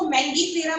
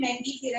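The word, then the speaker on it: Mangifera: अगर मैं इंडिया में इसको मैंगी फेरा प्रोनाउंस कर रही हूँ तो इंटरनेट पे इसकी प्रोनाउंसिएशन चेक करना, इसको इंटरनेट पे भी मैंगी फेरा ही बोलेंगे।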